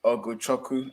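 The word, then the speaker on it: Ugochukwu: Krause goes Oguchoku.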